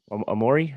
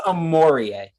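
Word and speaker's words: Omoruyi: Amori, is that how you say it? I think it's Amorie.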